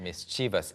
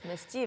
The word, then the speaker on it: mischievous: 사실 표준 발음은 mischievous가 맞아요. mischievous. Yeah. 그런데 mischievous, yeah. 지역에 따라서 앞에 강세를 둬서 mischievous라고 하는 것도 mischievous. 있고 미국의 일부 지역 그리고 블루민스 씨 같은 경우에는 mischievous처럼 발음을 해줬는데요. 아무튼 다 알아두면 좋겠고 표준은 mischievous입니다.